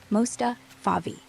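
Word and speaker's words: Mostafavi: Last name Mustavi. M O S T A F A V I. Pronounced like Mustafa Favi.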